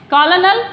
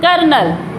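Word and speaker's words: colonel: वैसे इसको क्या बोलते हैं, कॉलोनल, यही तो बोला जाता है, जो ज़्यादा ध्यान नहीं होता, वैसे ज़्यादातर जानते हैं इसको, जो है हमको बोलते हैं कर्नल। क्या बोला जाता है इसको, कर्नल, कर्नल। नेक्स्ट एक्सेंट, इसे क्या बोलते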